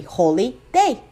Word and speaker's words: holiday: And the word has even pronounced that way until the 16th century, holy day.